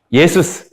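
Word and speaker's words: Ἰησοῦς: 뭐냐면 원어랑 얘기를 했을 때 예수스 근데 바뀌지 않는 부분이 요 앞까지거든요. 예수스, 예수, 예수, 예순 이렇게 되기 때문에 안 바뀌는 부분을 발음하면은 예수예요. 그러니까 우리말이 원어에 더 가까워요.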